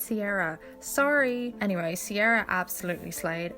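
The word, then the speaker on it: Saoirse: My faves were, I always want to pronounce it Kira because I'm Irish, but I'm pretty sure it's Sierra.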